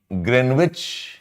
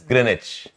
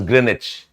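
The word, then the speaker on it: Greenwich: uh London uh uh greenwitch or Royal Observatory okay there's a place called as greenich you write as green witch you pronounce as Grenich green wit you pronounce as grinich okay it is through London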